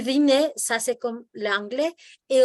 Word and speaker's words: dîner: En este caso, mon dîner, ahí sí la pronuncias, porque la palabra termina en R. Lo que no pronuncias es la R, cuando es sustantivo. Pero cuando es verbo, lo que no pronuncias es la E.